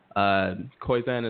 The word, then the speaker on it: Koyczan: Koizan is spelled Koyczan.